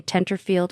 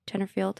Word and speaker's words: Tenterfield: familiar to you guys Tenterfield am I don't even know if I'm saying that right no that sounds right probably the one thing in Australian that's pronounced how it's said pronounced how it's written okay good all right